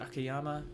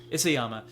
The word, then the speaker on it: Isayama: Is it Akiyama? I don't want to get his name wrong. Isayama.